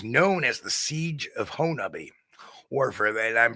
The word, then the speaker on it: Honobia: It was known as the Siege of Honubby, or for that, I'm pronouncing it like the locals. It's spelled like Honobia, but it's pronounced by the locals as Honubby.